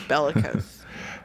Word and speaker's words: bellicose: I like that word bellicose sounds like a vein doesn't it yeah it does varicose rhymes with varicose it's bellicose uh let's see contrary